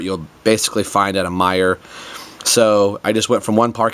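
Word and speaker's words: Meijer: next door is a Meyer. And I realized after doing some of these reviews that not everybody has a Meyer, and it's spelled M-E-I-J-E-R, so it looks like you should say it as Miger, and it is like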